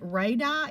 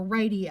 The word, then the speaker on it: radii: to put r now you can pronounce it radai it's two eyes it's radar or radii i think both of those are legitimate pronunciations and the other two